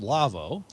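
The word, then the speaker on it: Lawo: manufacturer from germany their website is la wo pronounced lavo they make you think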